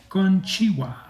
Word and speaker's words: konnichiwa: Konnichiwa. So did I say that right? Yes, you pronounced it right. Okay, konnichiwa.